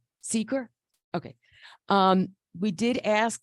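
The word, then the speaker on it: SEQR: right um this and I'm not sure I'm going to say this right but the Sakura process we did ask so how do you say it Seeker okay um we did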